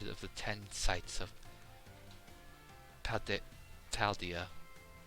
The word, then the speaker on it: Paldea: Now, any of you heard of the 10 sites of Paldea? I said it right. I didn't say Pandera bread this time.